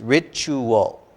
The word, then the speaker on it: ritual: careful of the pronunciation i think several couple times you said rachel rachel and it's it's ritual yeah ritual beat your